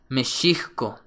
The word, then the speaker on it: México: otro ejemplo más es México que originalmente se escribe y se pronuncia mesko palabras en naat es